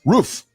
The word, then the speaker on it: Roof: But I got somebody coming in the show here today, uh, who says uh, pronounced roof. Yes, like the roof is on fire.